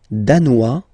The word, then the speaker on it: danois: Le Danemark, danois, danoise. Z, okay, insist on that. Danois, don't pronounce the final S. Danoise, here you pronounce it.